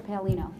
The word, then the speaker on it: Palino: into aase commissioner pal anonio back in March my name was commissioner palino palino I apologize for the